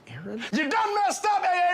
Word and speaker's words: Aaron: first time I said a Aon because it's pronounced Aaron you done messed up a Aon a Aon